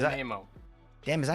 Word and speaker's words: Nanaimo: No, that's not Nanamo. Is Nanaimo.